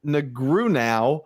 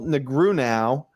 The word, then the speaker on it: Negreanu: A, Phil Hellmuth, B, Daniel Negreanu, or C, Johnny Chan? Which of the following poker players has never won the World Series of Poker main event? Phil Hellmuth, B, Daniel Negreanu, or C, Johnny Chan?